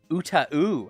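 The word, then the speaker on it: UTAU: Pronounced Uta-u. I've never heard that before. Uta-u? I've always heard Uta. Uta-u.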